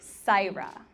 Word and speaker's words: Saira: that type you know her name is spelled s a I our a so it sounds like saira and that is an